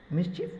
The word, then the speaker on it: mischief: The words mischief and handkerchief have the short I sound.